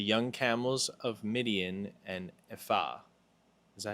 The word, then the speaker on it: Ephah: A multitude of camels shall cover you, the young camels of Midian and Ephah. Is that how you say it? Yeah. Ephah?